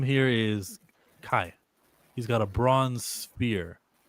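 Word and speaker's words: Cai: How do you pronounce that? C-A-I. I say Kai, right?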